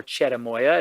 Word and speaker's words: cherimoya: It has a cousin called cherimoya, or cherimoya is how it's pronounced.